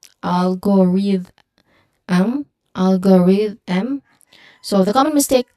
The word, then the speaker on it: algorithm: Remember the th sound should be voiced. And how we can um how we can check that is we just feel the vibration in our throat. If it vibrates again it is voiced.